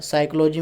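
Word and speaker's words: psychology: word सिकोलॉजी सिकोलॉजी में चीज जो है वह साइलेंट होता है साइकोलॉजी में क्या होता है कि साइलेंट होता है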